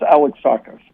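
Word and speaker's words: Alexakis: It's pronounced Alex Tacos.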